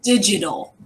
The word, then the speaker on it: digital: computerized way that's called digital so when I know I'm sorry I don't know how to pronounce okay it's that pesky genie making the J sound digital digital so digital is it's